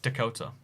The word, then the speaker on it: Dakota: Hey, pronounced Dakota. Yeah, Dakota. Dakota. Dakota. That's what I've been saying, right? Dakota. Dakota. Dakota. Dakota. It's definitely Dakota. Like South Dakota.